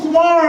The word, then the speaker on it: Kumar: You know, my name is Kumar and it rhymes with car.